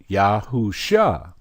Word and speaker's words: Yahushua: replaced it with soo now originally they pronounced it yahushua but once you put it down on paper you're going to get this phonetic spelling what am I telling